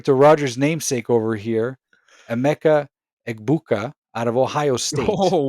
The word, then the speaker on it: Emeka Egbuka: We're referring to Rodgers' namesake over here, Emeka Egbuka out of Ohio State.